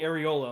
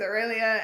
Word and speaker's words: Aurelia: I heard Taylor go, "You can call me Areola." I'm like, "What? Huh? That's wrong. Hello?" Incorrect. No, my voice just decided to do a weird, creaky, like, awkward accent and pronounce Aurelia wrong.